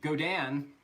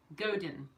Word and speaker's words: Godin: I think it's Godan. I think it's Godan. But Two syllables like that? With a soft with a stressed syllable. it has a softer sound on it because it's like French game.